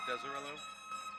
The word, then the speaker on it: Deserillo: I just want to say the last name's pronounced Deserillo. Cameron Davis.